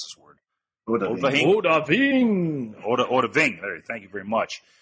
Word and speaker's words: Odahviing: I had to learn a shout called Odva. I can't pronounce this word. Odahviing.